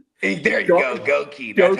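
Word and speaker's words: Goedeke: Gookie, dude. That's a up name. Goi. There you go. Goki.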